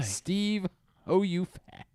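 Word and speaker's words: Steeve Ho You Fat: a there's no way Steve oh you fat and by the way and it's three words and it's spelled h-o-y-o-u it's not y-o-o it's spelled exactly Steve oh you fat so you know the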